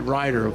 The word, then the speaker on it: Reutter: Okay, let's pronounce that right. Reutter.